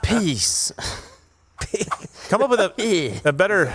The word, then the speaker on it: PiS: Right, the ruling party, Law and Justice, which ironically is piss, is it's one S, but it's still piss. That's the pronounced peace.